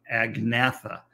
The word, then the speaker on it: Agnatha: not say the g the only G that you ever will say is in the in the name agnatha which is a g n